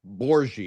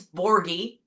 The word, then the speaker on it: Borghi: We were talking about Welcome Borie. If I mispronounced your name, correct me as we stand because it's a lot more challenging than Smith. That is true. It's Borgi.